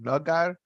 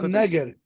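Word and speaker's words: נגר: I don't have the nekudes, but nagar. No, neger.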